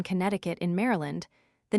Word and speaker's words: Connecticut: And to sound the first C in Connecticut in Maryland, the name